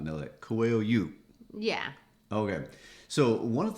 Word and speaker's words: Coelho: Coelho. Coelho. And that means rabbit, by the way. Okay, yes, I think a lot of people would not know that. Coelho.